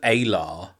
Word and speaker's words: Alar: Yeah, I hadn't caught that because they pronounce it Alar, which isn't that much like Allah.